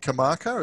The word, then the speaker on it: Karmarkar: do you post more on your is that kamaka is that how it's pronounced yeah yeah yeah with facetime or do